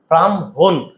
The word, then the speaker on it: ব্রাহ্মণ: হ পর চলে যাবে হর সাথে যেটা যুক্ত হবে সেটা উচ্চারণ আগে চলে আসবে আর ওইযে ওটা হচ্ছে